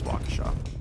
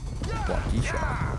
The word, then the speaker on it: Waukesha: Apparently I say Waukesha weird. You say Waukesha? Every once in a while. Yeah, no, it's Waukesha. Waukesha.